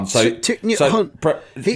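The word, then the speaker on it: Thích Nhất Hạnh: Thich Nhat Hanh. You spell it Thich.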